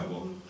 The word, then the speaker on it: woke: La ideología woke, si hay alguno anglosajón aquí se pronuncia woke, es una ideología que da predominio al pensamiento débil y lo convierte en un pensamiento fuerte.